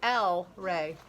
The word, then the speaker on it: EllRay: goes by l ray l rey but they make it look like el rey l right but it's l e it's l rey i have other names